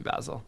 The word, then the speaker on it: Basil: However, in the case of Basil, it is supposed to be Basil, not Basil, which I remember because our